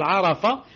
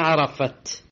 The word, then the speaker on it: Arafat: Dhul Hijjah qui s'appelle Arafat ou bien Arafat. Les deux prononciations sont justes, Arafat et Arafat.